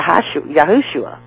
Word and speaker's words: Yahushua: look in the Hebrew his name looks like Joshua but it's spelled yah yahushua you pronounce it that way but it looks